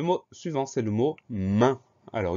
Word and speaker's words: main: Le mot suivant, c'est le mot main. Alors, une seule syllabe. Ça commence par la lettre M. Ensuite, on a le son 1 dans ce mot-là.